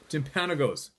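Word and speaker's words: Timpanogos: a picture of Mount OS I hope I pronounced it you're probably laughing the way I read that Tim Peno P Tim Panos Tim pan o go t i m p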